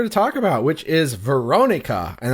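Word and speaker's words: Verónica: talk about which is Veronica and I'm going to put the accent on the o cuz there's the accent on the o and that's the way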